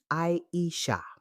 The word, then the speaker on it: Aisha: Her name is pronounced Aisha.